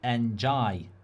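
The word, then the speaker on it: Ndiaye: Riley, our producer, is saying, I think it's pronounced Njai.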